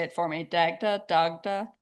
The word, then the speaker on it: Dagda: Dagda Dagda.